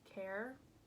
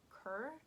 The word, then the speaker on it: Kerr: and her care sweater I think she pronounces it care but in the U.S like it's spelled k-e-r-r so it would be Cur but I'm pretty sure it's care sweater um it's a color